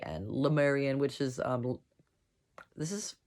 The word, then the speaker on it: Lemurian: where 25 000 lemurians i say le you could say le i've heard people say lie but it is spelled l-e-m-u-r-i-a-n lemarian which is um this